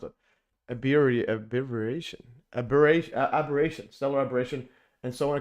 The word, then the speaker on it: aberration: So, it's going to be we're going to go over stellar abbreviation. Uh, how do you even pronounce it? Abbyation. Aber aberration.